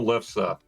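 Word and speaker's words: lefse: um it's called a it's the Norwegian potato lessa Potato. What? How do you spell that last?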